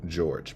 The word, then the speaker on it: Jorge: that's not that uncommon I have seen other people use the English pronunciation of Jorge so it's just a